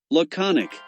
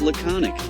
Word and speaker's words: laconic: The word laconic is typically pronounced as laconic. Here's a breakdown of the pronunciation. The first syllable is pronounced like lu with a schwa sound. Con or con. The second syllable is the stressed syllable.